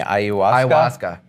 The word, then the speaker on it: ayahuasca: I think that a lot of members are curious about, and pronounce it for me, ayahuasca?